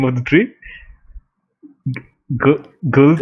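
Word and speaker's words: Gulthias: How do you pronounce that? The name of the tree? Gulthius? Golthius.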